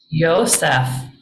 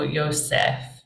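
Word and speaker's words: Ἰωσήφ: good job yo Yosef so the accent over the Ada there makes it short is that correct and why not just write an Epsilon yeah I I think you're right Tony the accent there can make it short and Ada before fee often has a shorter because of the way that that celebifies but um I I think you're right it should be a little closer to the long sound so Yosef foreign of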